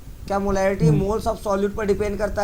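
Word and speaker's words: mho: inverse क्या है और इसका नाम है मो ओम की स्पेलिंग क्या होती है ओ हा एम क्या मुंह उल्टा होता है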